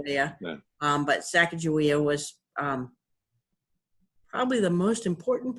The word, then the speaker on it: Sacagawea: that his wife was there's different pronunciations some say Sacagawea some say Chicago yeah but Sacagawea was probably the most